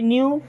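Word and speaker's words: knew: life में okay I न्यू both of them देखिए अब यहां पे के साइलेंट जैसे नो में के साइलेंट होता है ठीक है वैसे न्यू इसका सेकंड फॉर्म ही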